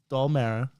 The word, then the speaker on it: Dalmara: It's pronounced Mara. Dalmara, okay. Dalmara, yeah. Mara. I did it last time, and you did. I've been catching shit You really did. consistently catching shit for it. So I want to come out here and say, yes, it is Dalmara.